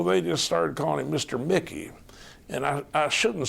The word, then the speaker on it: Muecke: full name is Mickey and the Mickey is spelled a little differently than you would expect Please spell it for